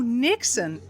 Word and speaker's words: niksen: I've heard that you have a thing called Nixon. Maybe I'm not pronouncing it right, but it's the art of doing nothing. Oh, Nixon.